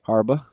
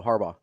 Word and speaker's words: Harbaugh: I say Harba. Oh no. Harbaugh. Like the gummy.